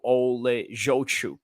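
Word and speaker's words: Oleksiejczuk: I still have a very bad way of pronouncing his name. Michael Olejochuk.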